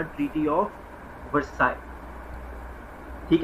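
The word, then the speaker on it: Versailles: Because countries were like, इन्होंने लिखा हुआ है बिल्कुल ये पहले पॉइंट पे, treaty of वर्साय, Ayesha, treaty of वर्साय इसको प्रनाउंस करते हैं।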